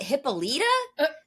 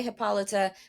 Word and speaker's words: Hippolyta: But the video that we used pronounced it Hippolyta, and I was like, "What?"